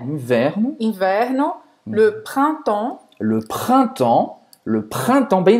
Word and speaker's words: printemps: Então, printemps. Printemps. mais aberto, temps, mais fechado. Printemps. Não vai pronunciar o P e o S no final.